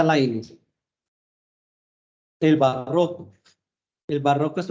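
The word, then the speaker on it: Leibniz: Del activismo y fanatismo, pero es también el tiempo de los grandes sistemas de Laines, se pronuncia Laines.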